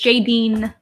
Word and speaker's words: Jadene: It's spelled Jadene. But we pronounce it like this. I guess if you speak Italian, this is this is the way you would pronounce it.